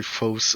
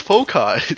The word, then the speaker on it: foci: i want to die every time you say foes do you pronounce it i'm glad i'm not the only person in physical pain hearing him say foci really yeah it's focai that's how you usually say okay it's like